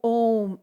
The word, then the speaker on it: Om: Dites-vous que le son home, c'est comme le mot home en anglais.